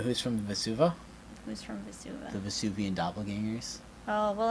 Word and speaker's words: Vesuva: I got a Vesuva. Yep. Is that how it's pronounced?